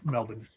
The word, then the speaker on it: Melbourne: Melbourne.